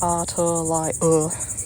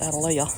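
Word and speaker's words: Atalaya: Adelia, pronounced Adelia, is a Spanish term meaning watchtower.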